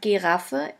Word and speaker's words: Giraffe: Giraffe, which means giraffe. As you can see, the word Giraffe is written exactly the same way as in English, but the pronunciation is completely different.